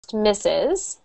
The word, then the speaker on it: Mrs.: Mrs., I'm just going to do Mrs. now quickly, is pronounced Mrs.